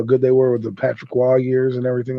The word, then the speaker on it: Patrick Roy: I used to call him Patrick Roy, but his name's Patrick Waugh. I always thought it was funny. It's spelled R-O-Y, and I'm like, I'm a young kid.